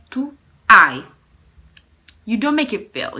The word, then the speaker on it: hai: You cannot say tu hai, no. You say tu hai. You don't make it feel. You don't pronounce it. Tu hai, it's mute. It is called mute H.